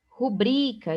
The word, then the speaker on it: rubrica: Rubrica, está errado, porque o brica é sílaba tônica, ela não é uma proparoxítona, ela é uma paroxítona. E paroxítona terminada em a não são acentuadas, então a palavra rubrica não tem acento.